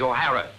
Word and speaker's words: O'Hara: do you remember saying my name is not for horror it is o'hara here mr o'hara yes